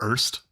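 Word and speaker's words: Eerste: It's called Erst. It's spelled like E or S-T-E.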